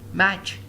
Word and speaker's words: match: Match, match. There is no T.